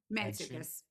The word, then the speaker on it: Mantzoukas: Mantzoukas.